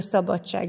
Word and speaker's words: szabadság: majd utána egy kicsit nézzük a szabadság ebben csak összeolvadással találkozunk ugye d+ s találkozásakor kiejtésben kettőzött c-t hallunk ejtünk még egy példa